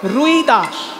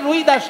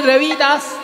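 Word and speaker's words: রবিদাস: এত সুন্দর ভজনটি যিনি লিখেছেন বাবা, তাকে বাঙালিরা বলে রুই দাস, কিন্তু হিন্দি উচ্চারণে রুই দাস নয়, হিন্দি উচ্চারণে রই দাস, রই র হস্যই রই। আসলে সেটা হবে রবি, রবি মানে সূর্য, রবি দাস সূর্য দাস, সেটা হিন্দি উচ্চারণে রবি দাস, সেখান থেকে রই দাস, আর বাংলায় হয়ে গেছে রুই দাস।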